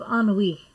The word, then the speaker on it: ennui: Jaunty, tired, full of ennui. That's one of your vocabulary words, so you can see it's kind of a funny looking word because it's not English. Ennui, that's how that's pronounced.